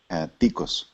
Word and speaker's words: Ticos: Ticos.